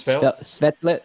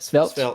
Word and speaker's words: Svelte: And I've seen that you use I forgot, I don't know how to pronounce it. Svelte, Svelte, right?